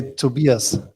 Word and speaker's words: Tobias: in germany you say to beerus and i uh thought doc you just have to think about it's just like uh two beers so two beers and